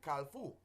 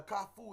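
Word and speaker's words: kafou: kafu in Creole a kafu is the uh word for the intersection that's the correct pronunciation but you have in the west people who don't know they say with a l at k-a-l-f-u-f-u it is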